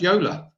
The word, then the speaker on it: Jola: Jola is pronounced Yola.